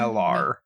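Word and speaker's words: Mellar: The name is wrong, but it's very close. Melan? It's Melar. Melar.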